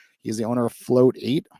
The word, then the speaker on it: float8: a little bit about float 8 and float8 it's like meditate oh I've been saying